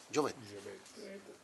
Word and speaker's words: Jovet: Jovet. Está bien. Es francés, se supone que la T no se pronuncia, pero...